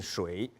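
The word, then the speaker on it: 水: landscape as instructure water water in Chinese the pronunciation Shui like Fung's with Sri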